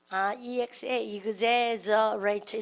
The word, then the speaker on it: exaggerate: 그러니까 그래서 exaggerate에서 근데 ex가요 이그즈 발음 나죠?